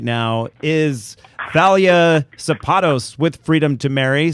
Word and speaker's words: Thalia: And so I was asking our call screener, I said she pronounces it Thalia because I have a hard time not saying Thalia because of the singer.